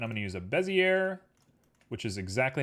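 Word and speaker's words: Bézier: We're going to go ahead and make ourselves a curve, and I'm going to use a Bezier, which is exactly how you're supposed to pronounce it.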